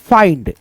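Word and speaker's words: find: और ड पढ़ोगे जैसे यहां पे देखो एफ आई एन डी तो हम यहां पे जो है ना फिंड नहीं पढ़ेंगे अगर आप फिंड पढ़ते हो तो आपके पढ़ने का तरीका गलत होगा फाइंड पा ई आधा न ड फाइंड जैसे एम आई एन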